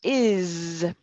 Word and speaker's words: is: So remember, the verb is the third person singular form of to be, is pronounced is with a Z sound, expresado, is, tus cuerdas vibran.